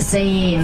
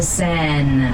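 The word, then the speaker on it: Seine: goes through Paris the saying that's it we say saying in English but now you're all French you can pronounce it in the French way the San s-e-i-n-e which if you translate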